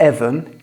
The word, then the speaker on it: even: In even, the stress is on the first syllable.